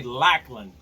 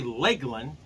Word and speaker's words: Lakland: I'm not gonna say Lakeland of Lake as well with l a k e I'm gonna say Lachlan all right so I'm gonna say lack of if I'm wrong then Lachlan call me and we'll